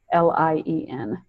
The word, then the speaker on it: Rognlien: And that's by a guy by Bob Ronglien, but it's spelled kind of funny because I think it's Norwegian. So it's not how you think. It's Rognlien. Rognlien.